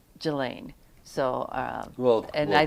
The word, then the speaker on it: Ghislaine: otherwise known as well G H I S L A I N E which I was pronouncing Jiz Lane but I hear people calling her Gilain.